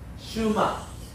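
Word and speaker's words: שְׁמַע: 그러니까 쉐마 하는 것은 너무 강조한 말이고 이렇게는 이 에 발음은 에, 이게 아닙니다.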